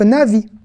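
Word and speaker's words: נביא: Donc, na, vi. Mais qui est important, hein. Le alef, il ne se prononce pas, mais il est important dans le mot.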